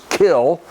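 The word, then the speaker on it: Kiln: that lazy Magnolia and kill Mississippi spelled k-i-l-n but the original pronunciation of the word was kill and uh and and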